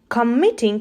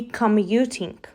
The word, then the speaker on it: commuting: depend another pronunciation error committing should be commuting proving is not the